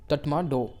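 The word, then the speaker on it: Tatmadaw: Combine वे में हम उसको बोलते हैं तटमाडो, ये इस तरह से इसको प्रोनाउंस कीजिए।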